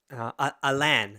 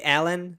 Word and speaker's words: Alain: you know him um alain alain it's like you can say allen but it's not really alan you have to like pronounce french yes he's his friend